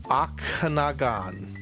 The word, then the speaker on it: Okanagan: in the lake of Oh, I'm going to mispronounce this. Lake Okanagan.